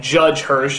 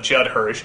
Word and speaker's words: Judd Hirsch: there for whatever reason i could never quite pronounce correctly like judge hirsch instead of judd hirsch ralph bashke instead of ralph bakshi but the